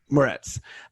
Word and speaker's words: Moretz: So it's with Chloe Grace how do you pronounce her last name? Moretz.